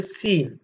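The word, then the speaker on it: سين: சரி, அடுத்து நாங்கள் பார்க்க இருக்கின்ற எழுத்து சீன்.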